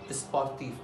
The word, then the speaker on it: sportif: Now say sportif. I am pronouncing this F.